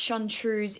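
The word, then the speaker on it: Seann Triubhas: those Warriors of old John truce pronounced chantrews in Gaelic and translating into English as old trousers the origin of this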